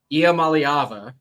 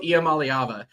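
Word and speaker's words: Iamaleava: I've I've practiced it believe it or not IAM malava yep Nico IAM malava I know he started the bowl game last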